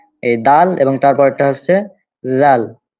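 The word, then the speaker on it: ذال: হ্যাঁ, এই দাল এবং তারপরটা হচ্ছে লাল, এটা অনেকটা নরম করে উচ্চারণ হবে, লাল।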